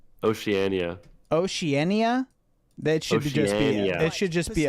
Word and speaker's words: Oceania: Next up we have Oceanana. It's interesting because Did you say Oceanana? Yeah. How do you say it? Oceania.